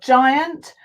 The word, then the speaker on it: giant: Okay, we've got giant, genius. Okay, that follows the rule, the E. So you see we've got an I and an E, so that makes it a soft G.